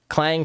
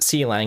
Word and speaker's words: clang: some other ones like clang for instance which i'll write out here it's not pronounced c lang it's actually clang and basically what that